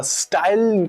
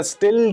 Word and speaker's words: Styl: स्टाइल कह लो या स्टिल कह लो, क्योंकि स्टाइल वर्ड के अंदर एक ई भी होता है लास्ट में। इसके अंदर ऐसा कुछ नहीं है, इसका जो स्पेलिंग है STYL, दैट्स इट, इतने पे खत्म कर दिया।